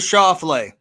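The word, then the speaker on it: Schauffele: jordan spieth all right bj final pick alexander shaw flay meander you just wanted to say his name correctly can you spell that for a bonus point without looking x-a-n-d-e-r-s-c-h-a-u-f-f-l-e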